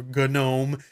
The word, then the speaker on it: GNOME: with unity going away gnome is great I love it but or good gnome if you want to pronounce it that way but it's just not